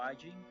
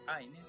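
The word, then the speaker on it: עין: Primero la letra Ain o Ajin, le dicen algunos, pero es Ain, más la Nekud Zere, para entonces así formar la sílaba E con el acento.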